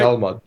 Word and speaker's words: Talmud: I know that's not how you pronounce it, but anyway, some kind of book spelled. No, that's right. That's the right. Talmud.